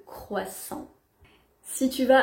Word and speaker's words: croissant: témoignage qui nous dit gros seins au lieu de croissant si tu vas à